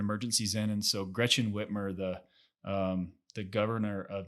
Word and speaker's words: Whitmer: that's her name right it's gretchen whitmer i'm pretty sure i think that's it that's correct i don't want to say it wrong no it's whitmer is correct okay whitmer governor whitmer